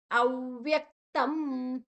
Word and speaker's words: ಅವ್ಯಕ್ತಂ: ಶ ಮತ್ತೆ ಯ ನಿರ್ದೇಶಯಂ ಅವ್ಯಕ್ತಂ ಅವ್ಯಕ್ತ ಆದ ನಂತರ ವ ಮತ್ತೆ ಯ ಮತ್ತೆ ಕ ಮತ್ತೆ ತ ಅವ್ಯಕ್ತಂ ಅಲ್ಲಿ ಅನುಸ್ವಾರ ಅನುಸ್ವಾರದ ಉಚ್ಚಾರಣೆ ಮ ಯಾಕೆ ಅಂದ್ರೆ ಮುಂದಿನ ಅಕ್ಷರ ಪ ಇದೆ ಪ ಬಮಮ ಪ ವರ್ಗದ ಅನುನಾಸಿಕ ಮ ದ ಅರ್ಧವನ್ನ ತಕೊಳ್ತೇವೆ ಅವ್ಯಕ್ತಂ ತಂಪ ಪರಿಯುಪಾಸತೆ ಪರಿಯು ಪರಿಯು